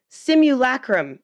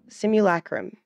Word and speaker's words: simulacrum: Simulacrum. Okay, there we go. Simulacrum.